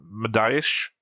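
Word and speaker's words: Mediaș: It's written M I sorry, M D I A S, but I think the S has that curve thing underneath it. And when Alfie pronounces it, he has an H at the end. So, it's Medish base.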